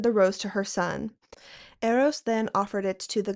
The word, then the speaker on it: Eros: Aphrodite named the flower rose, dedicating it to her son, Aeros.